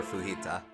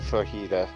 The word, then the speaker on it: Fujita: Why do you keep pronouncing his last name like it's Spanish? Oh, it probably... You're right. That's Japanese pronunciation, not Spanish pronunciation. You're thinking fajita.